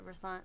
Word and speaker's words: Versant: solo work it's pronounced Versant we pronounce it Versant what is Versant mean is that a word I'm unfamiliar with um if you're sounds like a croissant well um wish I